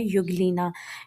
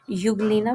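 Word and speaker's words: Euglena: और इसका नाम है युग्लीना। युग्लीना बोलते हैं इसको। इसके अंदर जो ई होता है वो साइलेंट होता है।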